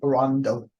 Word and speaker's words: Toronto: Quebec and then uh Toronto actually Rondo oh so they don't pronounce it no there's no T's and then um you got